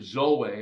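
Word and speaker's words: ζωή: says it says here Zoe or zo is the is the Greek pronunciation for live it's not talking about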